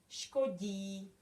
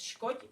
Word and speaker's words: škodí: So we pronounce this as j, and then we still have to pronounce the long I. Škodí. So it's not just škoď, but škodí because of the last letter.